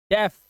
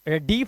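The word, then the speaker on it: deaf: spread डेथ health weapon डेफ डीफ नहीं पते डीफ डेफ डेफ का आवाज आ रहा है डेफ यहां पर के हमने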